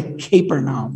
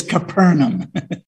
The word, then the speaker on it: Capernaum: was in Canaan his son was sick in Capernaum I had trouble pronouncing that I want to say capernum but that it's totally wrong it's capernum the official heard that Jesus had returned from